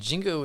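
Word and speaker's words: Xingu: about all of this Jingu lodge calm and Jingu is spelled Xin Jie you so Jingu ROG calm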